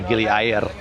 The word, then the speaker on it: Gili Air: It's air, like the word for water. It's not air as in the word for udara.